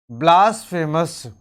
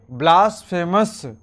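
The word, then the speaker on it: blasphemy: अगला टर्म है ब्लास्फेमस। तो ब्लास्फेमस से पहले एक और वर्ड लिख लेते हैं। एक वर्ड है ब्लास्फेमी। ब्लास्फेमे या ब्लास्फेमी, दोनों ही इसका प्रोनाउंसिएशन है।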